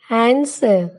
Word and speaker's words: answer: W is silent in the following words: who, whose, whole, whom, whoever, answer, sword, to.